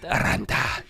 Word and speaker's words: Aranta: So tonight we're drinking Speyburn Aranta. How do you say it? I would also roll the R because that's what the Scottish do. Aranta.